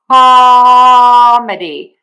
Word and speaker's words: comedy: Or you can think of it as calm and then the schwah daddy cal e either is fine.